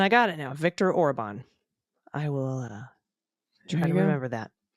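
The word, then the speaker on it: Orbán: And I know this is very small, but Hungarian, the first syllable of each word is emphasized. So when we talk about our authoritarian prime minister, we say Viktor Orban instead of Viktor Orban, which is how I heard you say it.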